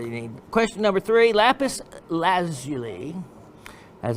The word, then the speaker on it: lapis lazuli: number one battery you need question number three lapis lazuli as it's properly supposed to be pronounced has been determined to be a sulfur